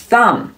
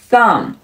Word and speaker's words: thumb: 我们来看一下，首先大拇指叫做 thumb thumb thumb，注意末尾的 b 是不发音的 thumb thumb。